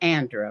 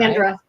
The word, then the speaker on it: Andra: for joining us and you pronounce it Andra right Andra and and not a and d like I want to